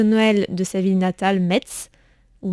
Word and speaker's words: Metz: de sa ville natale, Metz, ou Metz, je crois qu'il faut prononcer Metz dans le nord. Ça dépend. C'est ça, Metz Je crois, de souvenir, c'est Metz. Ouais.